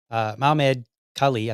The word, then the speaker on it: Mahmoud Khalil: Mahmoud Khalil, I think is how you say his name.